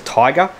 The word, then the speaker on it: Tyga: actually has a full, I'm gonna pronounce it as Tiger, but it's TYGA.